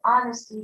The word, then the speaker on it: honesty: the last word is honesty the h is silent so i wanted to